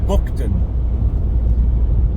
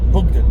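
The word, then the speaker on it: Buckden: a village called well it says on the sign bookon but the locals pronounce it bugden uh that was I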